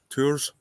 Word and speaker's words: Tours: And we want to go to tour Tours. It's spelled like Tours, but I think it's called tour. I think the S is silent.